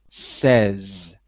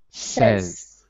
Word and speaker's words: says: gareth william says right it looks like say but it's not say when it's in the third person it's pronounced as if it has an e in it says says so that's really important